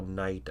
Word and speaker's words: knight: How do you spell knight as in a soldier knight? N. That's K. K-N. Yep. So K is silent in the night.